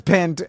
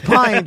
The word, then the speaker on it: pint: No one says pent. It's pint. They're messing with you. It's an uncommon word. I looked up the whole thing, and there's no really explanation why we pronounce it as pint and not pent, because it's spelled pent. Like mint.